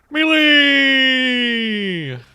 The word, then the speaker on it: melee: and they said melee rhymes with payday.